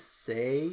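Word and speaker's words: Sae: Her name is Say.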